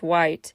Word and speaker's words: Whyte: White, WHYTE, aka question mark TE, sometimes that's how it's spelled, but it's white, released Finale, a sultry jam, kind of reminiscent of Boa's style.